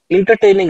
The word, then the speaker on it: entertaining: And when we have e in the beginning, so it becomes a.